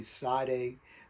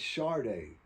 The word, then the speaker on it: Sade: Her name is spelled S A D E. Sade. I can see Side. But they said, "No, no, it's Chararda. I don't see no H in there. I don't see no R."